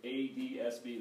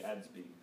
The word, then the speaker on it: ADS-B: i've heard people say either a d s b they just say the letters out and i've also heard other people say ads being so there's no common